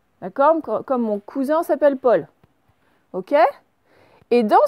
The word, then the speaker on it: cousin: Là, j'ai le S, il est entre le U et le I, il est entre deux voyelles, donc il va zozoter. Donc ça va faire cousin. D'accord? Comme mon cousin s'appelle Paul.